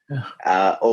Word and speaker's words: ho: But when you spell it, the participle is spelled HOHAI, HHA, etc. And in those letters I was reading, a lot of times they would drop, since it's silent when you speak it, they would drop the H.